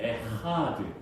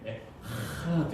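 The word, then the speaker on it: אחד: 아도나이 에하드. 이 하는 우리나라에 발음이 없는 발음, 약간 끌어오르는 발음이에요. 에하드 이래야 되는데 잘하셔야 됩니다.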